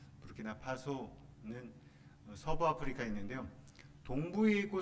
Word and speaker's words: 부르키나파소: 프랑스어도 아니고요. 프랑스 식민지로 있었지만 나라 이름은 또 프랑스어 발음은 아니더라고요. 부르키나파소는 서부 아프리카에 있는데요.